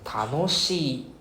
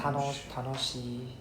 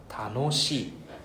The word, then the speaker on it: 楽しい: And then 楽しい right? Not 楽しい yeah, it's not flat, it's there's an up and down. 楽しい right?